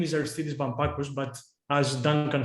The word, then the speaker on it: Aristeidis Bampakos: my name hello everyone actually my name is arthidis vampacus but as duncan said you can call me